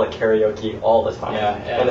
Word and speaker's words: karaoke: So karaoke, properly pronounced, is karaoke.